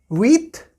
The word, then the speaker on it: huit: Then huit, huit. Again, we are not pronouncing H here because H is silent in French.